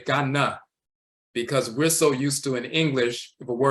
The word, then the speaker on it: Ghana: icon and he's from Ghana the person said I'm from Ghana and we will say Ghana because we're so used to in English if a word ends in a we pronounce it as uh because English is the